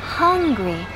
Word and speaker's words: hungry: Hungry. Y pronunciamos la H exhalando.